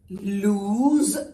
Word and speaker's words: lose: It's lose z and loose, loose. Could you hear the difference? Lose, loose.